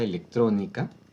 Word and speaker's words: electrónica: Electrónica lleva solamente acento en la O.